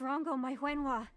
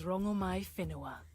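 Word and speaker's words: Rongomai Fenua: Where's Rango Maiwenwa? My child. Whoa. I have always been fine. Goddess. My name alone will suffice. My name is Rongomai Finua. Fenua? Oh! We've been mispronouncing you the whole time.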